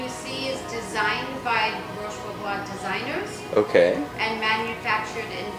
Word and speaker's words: Roche Bobois: Roche Bobois, that's how you pronounce it.